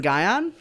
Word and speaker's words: Gion: So my OC has always been Gion. Is how the name is supposed to be said, at least in my opinion.